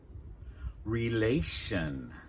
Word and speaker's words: relation: "Relation" "Relation" Notice there that our stress is on the "A" that comes before the ending "-tion" "relation" In English, we